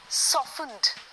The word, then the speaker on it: softened: SOFTENED, सॉफ्टनड नहीं है या सॉफ्टनर नहीं है, सॉफ्टनड, सॉफ्टनर, सॉफ्टनिंग, तो बस इतना याद